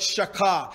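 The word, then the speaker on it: shachah: for worship the first word is the word shaka it's spelled s-h-a-c-h-a-h a lot it means depressed not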